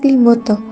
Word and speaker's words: Limboto: Since then, the Tupalo spring that has turned into a lake was the name Pulalo Lalimuto, now pronounced Lake Limuto.